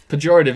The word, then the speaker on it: pejorative: I've never had to say I read it as prerogative first, and then I wanted to say that, and then that slipped me up.